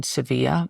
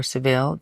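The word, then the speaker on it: Sevilla: Studio Movie and then we shot in seevilla or sevil depending on how you pronounce it in Spain and then the Canary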